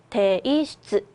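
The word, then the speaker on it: 提出: 여러분 제출 어떻게 읽었죠? 대이슈츠, 대슈츠라고 읽어주시면 되겠고요.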